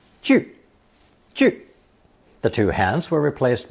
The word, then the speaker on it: 聚: Pronounced fourth tone. 句.